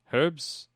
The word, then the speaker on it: herbs: how do you say how do you say it I do with a silent H so you say herbs I do say herbs ok hebbs just like a knife silent K silent H you know English I